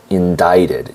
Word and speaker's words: indicted: Prosecutors indicted, and this is important, indicted has a C in it, but it is not pronounced. So indicted is the correct pronunciation.